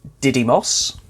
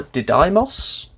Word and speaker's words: Didymos: was discovered orbiting the asteroid of Didymos or did Imus it's spelled di dy